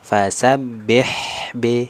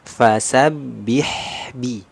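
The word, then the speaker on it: فَسَبِّحْ بِ: Nah, jadi yang kurang tepat tadi di bacaan yang kedua ya, membacanya masih vokal e, fasabbih b. Nah, jadi harusnya sempurna. Fasabbih bi.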